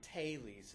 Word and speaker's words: Thales: language and so um I've heard pronouncing it taes is probably a little bit closer to to right but